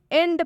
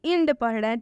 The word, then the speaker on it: end: के साथ लिखा गया है, लेकिन हम इसका उच्चारण "एह" ध्वनि के साथ कर रहे हैं। हम इसे "end" पढ़ रहे हैं, न कि "eend"।